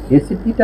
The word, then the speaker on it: SAP: এখন এই এসএপিটা আসলে কি, আমরা আরেকটা জিনিস শিখে নেব, সেটা হচ্ছে এসএপি। এটা আলাদা আলাদা উচ্চারণ করব না, এটা অনেকেই স্যাপ উচ্চারণ করে, যদিও এটা আসলে ঠিক না।